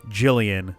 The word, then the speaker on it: Jillian: Because this is usually Jillian. Yeah. It's weird how we've got Gilliam, hard G, Jillian, soft G.